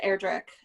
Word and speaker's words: Erdrich: um i i think her last name is pronounced erdrick not rhyming with witch and like she said